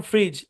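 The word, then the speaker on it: fridge: খুবই মজার একটা প্যাটারন ডিজি অথবা ডিজে থাকলে ডি সাইলেন্ট যেমন দেখেন এই শব্দের উচ্চারণ বাজেট কারণ ডিজি একসাথে আছে বাজেট এই শব্দের উচ্চারণ ফ্রিজ ডিজে একসাথে আছে এই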